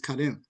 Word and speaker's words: Karim: So, brother Kad, pronounce it for me again out. Is it It's not Kareem. It's Kadim. Karem.